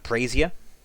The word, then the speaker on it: brazier: Ahead of you, you see that there is a small brazier. Not brazier, as I used to pronounce it.